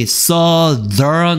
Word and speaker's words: southern: 그리고 발음이 southern 이라고 그랬어.